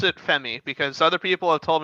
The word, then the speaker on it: Fermi: Is the paradox called the Fermi or the Femi paradox? Speed probably knows what that is. The what? Probably easier. The Fermi paradox.